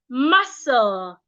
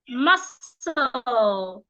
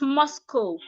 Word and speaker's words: muscle: receipt we also have muscle muscle not mosco we have cabbo not